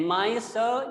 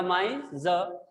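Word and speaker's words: miser: माइसर या माइजर, ये दोनों आप प्रोनाउंस कर सकते हैं।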